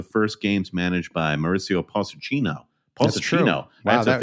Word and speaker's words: Pochettino: will see the first games managed by Mauricio Pochettino. That's true. Wow, I have to figure out how to pronounce I don't know.